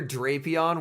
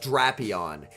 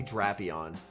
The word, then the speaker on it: Drapion: it is technically pronounced draon like it it's supposed to be a play on Dracula because it's like a vampire scorpion so it's technically supposed to be draon and that's like if